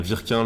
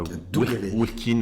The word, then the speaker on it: Wirquin: W du nord de la France se prononce V.